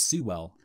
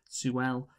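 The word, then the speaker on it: Sewell: sometimes i just commit to pronouncing like really overpronouncing his name like rufus sue well sue well and olivia williams as well so michael this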